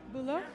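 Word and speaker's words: Bülow: Bulo?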